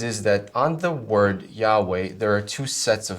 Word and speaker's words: Jehovah: So, with regard to Jehovah, uh we do believe that it's an incorrect way of pronouncing it. Uh but what that is is it is a it's a misreading of the vowels that appear on the letters YHW on the word Yahweh. It's a simply a misreading of it.